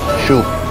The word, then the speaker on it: Xiu: Shoe. Parang shoe sapat or shoa ng sapatos. Shoe.